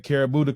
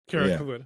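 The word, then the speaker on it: Kirifuda: The Karabuta clutch. Is that how you say it, John? Karafuda. Karafuda, yeah.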